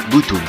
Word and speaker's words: Btooom!: Aujourd'hui je vais vous présenter un animé qui, bien qu'il s'écrive BT3ON, se prononce comme l'onomatopée japonaise de l'explosion Butoon.